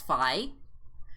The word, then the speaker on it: Fi: It's pronounced like Fi. I'm assuming that's Fi.